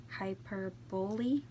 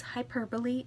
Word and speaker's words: hyperbole: I was saying hyperbole. Hyperbole. I'm like, that's not it. It's hyperbole and a half.